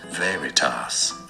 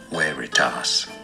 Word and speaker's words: veritas: oh yeah stay tuned in English this is generally said as Veritas Veritas Latin for the truth but in Latin this should be really said as where it tasks because V he he